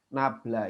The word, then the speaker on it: nabla: Nah, ini bacanya nabla ya.